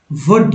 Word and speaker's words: would: वुड, अब देखिए WOULD, तो LD है, LD में L का उच्चारण नहीं होगा, D का उच्चारण होगा।